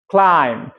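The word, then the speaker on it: climb: lamp ভেড়া lamp ভেড়া সি এল আই এম বি ক্লাইম ক্লাইম বি এর উচ্চারণ হবে না ক্লাইম শুধু ম উচ্চারণ হবে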